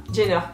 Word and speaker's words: Jenner: Kylie jiner c'est çaer le j en anglais ça se prononce un peu comme un G kyliener jner voilà donc mes Warriors